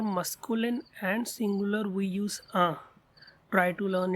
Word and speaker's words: un: So for masculine and singular we use un. Try to learn its pronunciation. It's un.